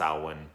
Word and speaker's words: Samhain: Loomis is like it's the festival of Samhain and it's like now this is produced this is pronounced Alwyn which is fine it doesn't matter at all